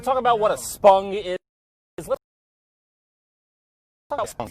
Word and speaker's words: spung: Spung. That's really important. Spung. Yeah, and you can spell it with S-P-U-N-G, or you can also spell it with an O, but it's pronounced the same way.